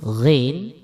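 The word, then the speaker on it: غين: Huruf ghin ini cara membacanya bisa dilihat di tabelnya. Ini adalah berbeda dengan huruf G ya. Jadi huruf ghin ini berbeda dengan huruf G ya.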